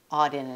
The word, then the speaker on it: Auden: right there yes yes and what wh auden auden is how you pronounce his name yes okay i was waiting